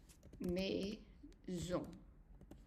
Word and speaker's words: maison: You see that the S has an I, which is a vowel, before it, and an O, which is a vowel after it. In this case, we pronounce it as Z.